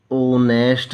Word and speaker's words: honest: ये देखो ओनेस्ट lady था, तो ओनेस्ट लेडी क्या है, ईमानदार औरत। यहाँ पर एच हमारा क्या है, साइलेंट है, ओ की साउंड आ रही है, ओ हमारा स्वर है,